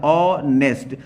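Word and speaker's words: honest: से आहा के बीच, अगर आ से आहा के बीच में पहला प्रोनाउंसिएशन किसी वर्ड का आता है तो हम क्या लगाते हैं, एन लगाते हैं, ना कि ए।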